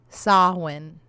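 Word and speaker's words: Samhain: Okay, Sam Hines Haunt said, "My name is pronounced Sawin."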